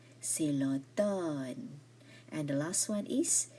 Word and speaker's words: automne: C'est l'automne. The M here is silent. C'est l'automne.